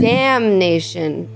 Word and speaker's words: damnation: Damnation. Damnation. Oh, you do pronounce the end. So no, it's one word. It's not damnation. It's damnation.